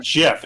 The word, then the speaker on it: GIF: It has a hard G.